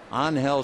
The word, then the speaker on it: Angel: glance you figures Angel they do not pronounce the G so anel Sanchez hitting 250 playing Short Stop Clint Barm has played the first two games onhell loves to hit the